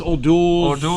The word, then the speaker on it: O'Doul's: O'Doul's is O'Doul?